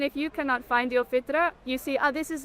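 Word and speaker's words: فطرة: Yeah, the fitra. The fita. Did I say it right? Yeah. Okay. That is in us. That is a good indicator. If you've lost your fita for some reason, Fitra.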